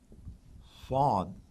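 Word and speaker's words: صاد: Swad is basically Swad, S with a dot, and when it's written, it's S with a dot underneath it. So it's not like Seen, Saad, it's Swad, but a little deeper, viscous, not quite as dilute, call it deep.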